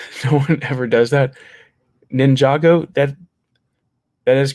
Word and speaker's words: Ninjago: Also, Matthew, how the F did you pronounce Ninjago correctly? No one ever does that. Ninjago?